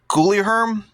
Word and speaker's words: Guilherme: I believe you pronounce it Guilherme, I believe, on the left.